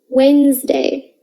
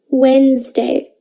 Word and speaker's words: Wednesday: you can probably hear there are lots of letters in wednesday that don't get pronounced say it with me wednesday wednesday i saw my friends